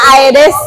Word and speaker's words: Aedes: apa nyamuk nyamuk apa nyamuk apa Hah nyamuk Aedes aigipti bacanya Aedes ya iya ya jadi demam berdarah itu eh